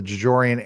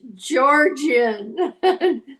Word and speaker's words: Georgian: I don't know why I think it's Georgian because am I seeing an extra syllable? Yeah, you are. It's Georgian. Not.